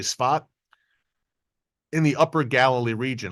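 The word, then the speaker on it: Tzfat: barrage of rockets that struck the city of spat S a f d but Israelis pronounce it spat it looks like safed but Israelis say spat in the upper Galilee region a little deeper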